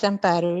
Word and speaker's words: Amparo: It's correct. It's Amparo. It's a Spanish.